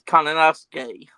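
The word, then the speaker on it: Konosuke: the U is silent in that though, because it's Kananosuke.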